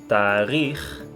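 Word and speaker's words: תאריך: Temos outras palavras, como por exemplo tarikh, que vai ter a letra Raf, então nós pronunciamos com o som de H e não K, porque ela está no final da palavra, assim como a palavra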